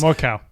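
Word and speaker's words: Mørkøv: even though it's More cow. Mikhail Morkov. Morkov. Yeah, it's something even more sounds like that.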